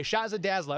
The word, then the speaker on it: Shazza Dazzla: Is it the last? Shazza Dazzla? Dazzla. Okay, Shazza Dazzla. Okay, all right, now I'm pronouncing it right.